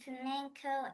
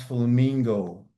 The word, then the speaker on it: flamenco: Tap, jazz, tap, ballet, and flamenco, and acro. Acro, which is acrobat. And I didn't know that. Oh, and that rhymes. Now, I always pronounce flamingo, but it's Flamenco.